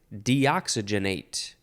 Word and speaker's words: deoxygenate: the next word is deoxygenate deox you could also emphasize the SI deoxygenate deoxygenate it is a transitive